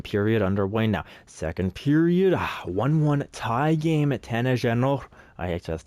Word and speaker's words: Jeannot: Tanner Jeannot. Actually, that's not how you say his name. Tanner Jeannot scores on Ilya Sorokin.